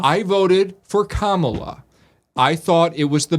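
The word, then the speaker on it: Kamala: all night Comm love think of the word comma and then add LA right so Comm LA right I voted for commala I thought it was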